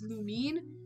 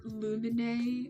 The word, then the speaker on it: Lumine: The next webtoon I freaking fell in love with was Lumine, or Lumine, as other people would pronounce it, but it's Lumine.